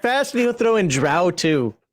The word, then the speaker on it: Drow: It's Heathen Dog's pronunciation guide coming February 2024. Order now. Act fast, and he'll throw in Drow too.